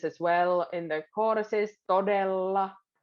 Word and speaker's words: todella: Todella, there's double L's, todella. Remember the two L's, so, and because it rhythmically goes as well.